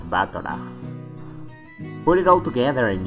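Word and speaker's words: Battler: Japanese pronunciation so far the problem is my own name but is made up of the characters for fight and person and it's pronounced batana put it all together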